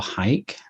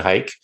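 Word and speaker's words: HEIC: you're shooting jpeg or hike and I'm sticking with the hike pronunciation by the way I don't care what Apple says Apple pronounced it Heek I'm saying hike let make hike happen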